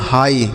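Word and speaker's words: high: तो एच आई और जी एच इन दोनों को मिलाकर बच्चों हम पढ़ते हैं हाई क्या पढ़ते हैं हाई यानी यानी अगर हाई लिखा रहता है तो ये जी एच साइलेंट होता है। इसका उच्चारण नहीं करते हैं।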